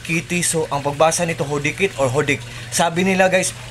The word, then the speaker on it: HODEKT: Hodikit or Hodik. Silent T daw to guys.